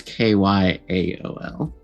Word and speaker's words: Kjol: artificer named Kjol, and not spelled like Coal. It's very specially spelled. All right, keep your spelling secrets. It's Kyaol.